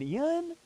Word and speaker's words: Ian: So if you could please go ahead and type Ian instead of Ian. There is one syllable, not two. Say it with me, Ian.